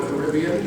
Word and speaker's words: Caribbean: Working with Claude Coates, Colin helped develop Disneyland's Pirates of the Caribbean, or Caribbean, depending on how you like it pronounced, as well as designs for the fabled Club 33.